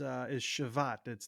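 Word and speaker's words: שבת: And that Hebrew word is shavat. That's how it's pronounced in Strong's lexicon.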